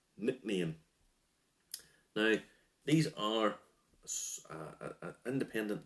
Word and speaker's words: Nc'nean: to try and pronounce n c apostrophe n e a n nickname now these are a